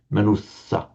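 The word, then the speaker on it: manussa: consonant cluster always heavy manusa manusa in fact if you're careful about pronouncing the double consonant as double you'll kind of automatically get it right anyway even without thinking if you pronounce manusa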